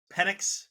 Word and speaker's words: Penix: It was how do you pronounce the name? Penix? Penix, not Penix.